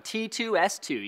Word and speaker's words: T2S2: T2S2, you guys. Tech tips, suggested software. That's how you say it. T2S2. Or squared, that's fine too.